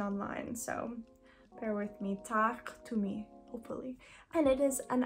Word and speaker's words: Taaqtumi: It's horror stories, but it's Tak Tumi. I'm trying my best to pronounce this correctly. I know that the Q has to be a little bit more guttural.